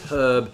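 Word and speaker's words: herb: we're talking about pronunciation a lot of Americans have a tendency to drop the H on Erb whereas the British tend to keep it but that was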